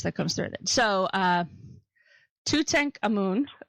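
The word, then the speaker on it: Tutankhamun: comes through it so to tank a moon which is actually the proper way to pronounce it who was also called to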